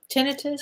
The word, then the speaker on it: tinnitus: Tinnitus, Tinnitus? How do you pronounce that?